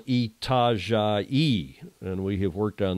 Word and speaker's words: Itajaí: My mom wants to know, Julia, how do you spell Itajaí?